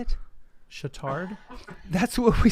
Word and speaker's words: Chautard: Chautard.